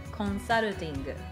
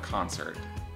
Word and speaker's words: consulting: He does consulting. Oh, work. Okay. So not concert, consulting. Yes, consulting.